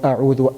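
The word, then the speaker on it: أعوذ: The hamza that we have in ta'awudh, which is a'udhu billahi, the word a'udhu a, the hamza that we have there is hamzatul qata'. Hamzatul qata'. That is hamzatul qata', so it is always pronounced.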